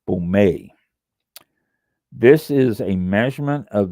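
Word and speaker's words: Baumé: let me howse this pronounce Bome okay b a u m with a little thing about the E Bome this is a measurement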